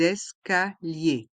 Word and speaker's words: escaliers: escaliers l'escalator les escaliers dans le mot escalier on fait la liaison avec le S de l' et le E de escalier les escaliers et les lettres I e r se prononce y et le s est mué S l'escalator les escaliers